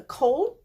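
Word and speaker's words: כָּל: store and caught a cold Oh needs a Douga SH it has the Komets under here so you're thinking it should be pronounced come but I it's always going to be pronounced Col I can give you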